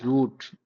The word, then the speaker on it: route: right it needs a root or we you can also pronounce a route or root. So both are okay.